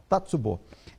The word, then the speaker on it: Tatsubo: Mas nós estamos com o nosso convidado, o, se eu pronunciar errado, você me corrige, hein? É Tatsubo.